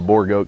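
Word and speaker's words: Boer: And for those of you that don't know, boar is a type of goat, and it's spelled B-O-E-R, not B-O-A-R. It's not like a pig. It's a boar goat, comes from South Africa.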